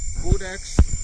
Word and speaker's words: Codex: Codex is pronounced with a long O, as in code.